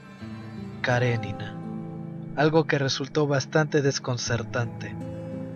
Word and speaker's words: Karenina: Lo que más impactó al doctor Frank fue el modo en que lo pronunció, pues lo habitual es decir Karenina, pero Pablo lo hizo como si fuera ruso. Karenina.